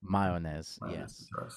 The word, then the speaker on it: Mayones: it's like a silent a right Mayes yeah mayones May so I do apologize that I didn't